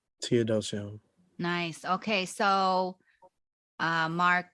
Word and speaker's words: Teodosio: dioso how do you say it Tod T theodosio theodosio nice okay so uh Mark tell the people